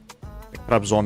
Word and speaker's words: Trabzon: Trabzon is how you pronounce it.